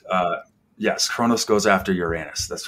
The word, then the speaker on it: Uranus: clean Mark I'm sorry I'm just gonna say uranos from now on because that's the Greek pronunciation uh we actually had